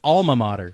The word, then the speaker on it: alma mater: ] l in there there's not Al it's alma mater alma mater alma mater it's all so there's